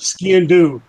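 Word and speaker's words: sgian-dubh: Yeah, I was going to ask if you had your skadoon. Is it skadoon? Is that how you say it? Ski and do.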